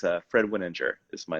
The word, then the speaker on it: Wininger: yeah yeah it's um i have clients that say winning in an injure and mess it up all the time it's a tough name so it's a soft g so it's a fred winninger is my name and